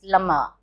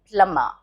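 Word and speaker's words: plumber: it's not lumber it's plummer the b is silent plummer alarm no it's alarm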